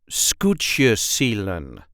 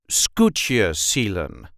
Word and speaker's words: Skûtsjesilen: Skûtsjesilen. There is a light emphasis on the first syllable, Skûtsjesilen. Skûtsjesilen.